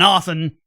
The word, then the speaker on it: often: Not to mention you're showing a real lack of self-awareness complaining about other people using archaic language while pronouncing the T in often.